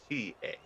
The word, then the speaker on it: Fukita: Again, I apologize for the typo when the name title bout has his name spelled with a D. And that's what I did here. It's actually Fukita, which I have since fixed.